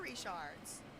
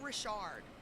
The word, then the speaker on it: Richard: maternal grandparents are reshards everyone should be saying Rishard. That is the woman's name. Anyway, and it ain't Rishard, y'all. The emphasis is on the first syllable as well.